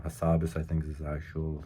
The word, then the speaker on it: Hassabis: That's how I like pronouncing his name. Hassabis, I think is his actual thing.